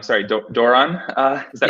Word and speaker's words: Doiron: Nick uh I'm gonna probably your name last name wrong sorry do Doran uh is that right yes that's good okay